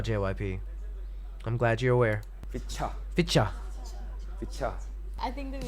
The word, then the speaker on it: VCHA: V as in V and cha. VCHA.